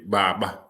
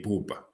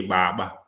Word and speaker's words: Baba: a mispronunciation it's actually Baba baba baba means father so buba that's foreigners who say buba we say baba baba you'll say ABBA